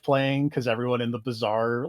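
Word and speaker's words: Bizarre: Oh, it's called the bizaar, but it's spelled B I Z A R A A R R E. Like the bizaar instead of the bazaar for shopping.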